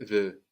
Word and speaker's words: veux: Je veux. And I can. Je peux. Je peux. Good. And we said that both of these are spelled E-U-X, no? V-E-U-X or P-E-U-X. And that X is silent, no?